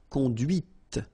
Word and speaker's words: conduite: And that's when you hear the difference between conduit, because remember, final T is not pronounced, conduit, here, and then the feminine, conduite. Okay, so here you can listen to this t, t, okay, conduite, all right?